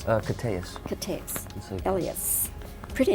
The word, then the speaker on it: Koteas: Pronounced Koteas.